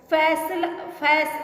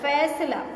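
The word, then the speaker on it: फ़ैसला: फैसला, फैसला नहीं होता, फैसला, फैसला, फ के नीचे नुक्ता रहेगा।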